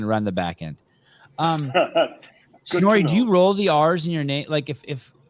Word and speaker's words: Snorri: Yeah, you would even roll them harder. You have to go full blown on it. Snorri. Yeah, it's like Snorri. The pronunciation is like it's got 19 R's in there, not 2. You actually start rolling them even in the first syllable. You're already rolling. Snorri. Yeah. Snorri. It's all about the R. If you want to pronounce it correctly, you need to get the R's down.